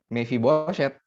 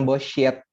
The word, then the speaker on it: Mefiboset: sudah oke am mefiboset bacanya mefiboset jadi Bacanya jangan bosshit karena eh itu bukan X bukan shinbukan lusin tapi eh same jadi tahap sebaiknya mefiboset biasa aja mefiboset nah tapi saya bacain